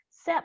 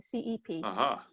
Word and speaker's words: Cep: of harper lee with casey sepp i think is how she pronounces her last name cep um there are two